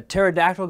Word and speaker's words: pterodactyl: you need or whatever do you know why you can never hear a pterodactyl going to the bathroom because the p is silent stay thirsty my friends